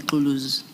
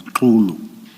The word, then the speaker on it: Xulu: Commissioners, the this gentleman, let me pronounce it properly, Xulu, he is working, according to my information, he is deployed in the KZN area.